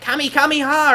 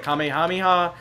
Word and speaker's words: Kamehameha: that weird cuz I think that's how Goten pronounces it it's like Kami kameha or whatever instead of Kamehameha you know um but yeah there we go